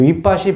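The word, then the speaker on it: Vipassī: 이제 V 발음이 남방에서는 W 발음 나가지고 윗바시라고 하는 건데, 그 윗바시 보살이라고 하는 윗바시 부처님의 출가하기 전에 그 이야기가 나타나는 것인데, 여기서도 12연기에 대해서 말씀하십니다.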